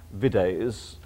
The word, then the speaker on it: vides: I mean, it starts with the word vides, which is, of course, video, naturally a short I, so at the very